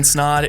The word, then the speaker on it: Snaadt: My name is Snaadt. It rhymes with odd, and you're listening and watching the Rhymes with Odd podcast.